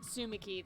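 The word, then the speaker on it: Tsumiki: this is going nowhere the t is silent sumiki that's why i thought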